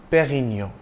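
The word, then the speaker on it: Pérignon: English way perennial but note the acute Accent on the E that means you stress the first syllable was a seller Master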